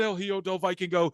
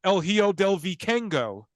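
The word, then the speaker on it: El Hijo del Vikingo: move and every wrestler El hiodo Viking go is not El hio do if I can go he's El hio Del vicengo and Ray Phoenix is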